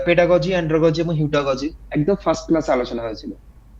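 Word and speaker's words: heutagogy: না না হেটাগজি বললাম ওটা হ্যাঁ ঠিকই আছে তোমার ন্সার ঠিক আছে আমি বললাম তোমার উচ্চারণটা ভুল আছে ওটা আমি তোমাকে ঠিক করে দিচ্ছি যে ওটা হবে হিউটাগজি আচ্ছা আচ্ছা বলুন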